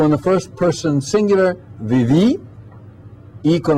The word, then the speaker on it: viví: So in the first person singular, viví, I con accento, the I with the accent mark, viviste, vivió, con accento, vivió.